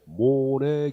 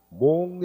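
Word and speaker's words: Monnet: 놓고 자본주의 국가계획제도의 효시 적어놓고, 자본주의 국가는 프랑스의 모네 계획이라고 했어요. 모네. 프랑스의 모네 계획. 1940년도. 당시 여러분들 기획관리청 장관의 이름이 모네야. 프랑스 발음으로 맨 끝에 T는 무궁이야. 그래서 모네 이래. 모네. 현재 몽네 아닙니까?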